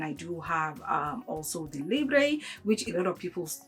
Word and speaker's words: Libre: her, you know, if the fragrance is actually Libre or if it's Lib. And she did tell me that it's actually pronounced Libre. Okay, it's YSL Libre.